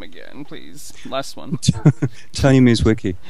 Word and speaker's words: Mierzwicki: Tony Mizwiki. Mwicki. Yes. Okay. It's not easy, people. Okay. It's not easy to pronounce these things.